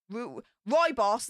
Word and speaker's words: rooibos: Apple pieces, cinnamon, rose hips, orange peel, clove, elderberry, green rooibos, rooibos, that's it, that's how you pronounce it, natural cinnamon flavour.